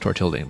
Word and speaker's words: Tortilding: I mean, it's clearly meant to be pronounced Tortilding because it rhymes with building, and it is a building.